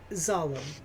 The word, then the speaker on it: Zallem: Zalem. Zalem? Zallem.